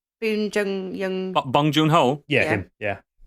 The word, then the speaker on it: Bong Joon-ho: And it's directed by him who did Parasite, whose name I can never pronounce. Bong Joon-ho.